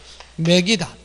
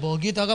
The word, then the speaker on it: 먹이다: 소리가 이런 식으로 나는 경우 있죠. 맥이다. 그러나 원래 원칙의 이것의 발음은 맥이다가 아니라 맞는 발음은 먹이다가 맞는 거거든요. 그런데 이렇게 이모음 역행동화 돼서 어라는 후술 모음이 전설 모음 이해가 됐다.